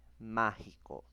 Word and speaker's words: mágico: es una palabra o la mayor fuerza de voz es en la antepenúltima sílaba. Ejemplo, tenemos ahí mágico.